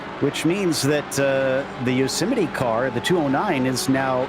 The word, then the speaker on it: Yosemite: The car in second right now, WWZ Yosemite. When I was a kid, I did not know exactly the right way to say it, and I always said Yosemite.